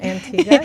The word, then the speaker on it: Antigua: Robbin served as the outreach and communications liaison for Crossroads Center at Antigua. Did I say it right? Antigua, yes.